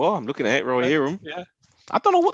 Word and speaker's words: Rohirrim: Are you pronouncing it right? Rohirrim? No, you are. I'm looking at it. Rohirrim.